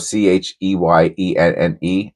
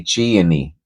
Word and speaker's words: Cheyenne: I used to say Cheyenni. I swear to you. That is That's how I say Cheyenni, Wyoming, I say. And they have a Cheyenne Porsche. That's how I learned how to say the word Cheyenne was from Porsche. They Oh, here it goes. Here it goes, Cheyenne, Wyoming. And I used to say Cheyenni.